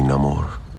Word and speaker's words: Namor: theme with this channel apparently I was pronouncing name or wrong I was copying tenocuerta well my enemies call me Namor and was also my instinctive